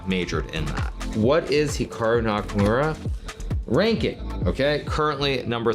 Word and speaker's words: Hikaru: more Americanized versus Japanese certainly if I was pronouncing it correctly it would be more like Hikaru as opposed to Hikaru but I've spent so